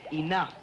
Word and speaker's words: enough: new crime no Murray that words pronounced enough but yesterday you said that th ro ug H was pronounced through so why is it and oh ugh pronounced I knew it just isn't shall we complicate things for still further by telling you the th Oh ugh is pronounced though it's not fair it should be spelt E and you f I thought you and